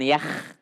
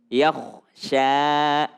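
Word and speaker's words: يخشى: Yakh. Jangan yakh, tapi yakhsha.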